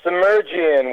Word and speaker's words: Semerdjian: Uh, submergian would be the best way to do it.